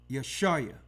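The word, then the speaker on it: Yashaya: Yeshua. You got it? Yeshua. Yeshua. Yes, not I. That's Isaiah with an I sound. That's a different letter.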